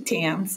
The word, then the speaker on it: Thames: My name is Thames. It's like the Thames, it's pronounced like the Thames River in England.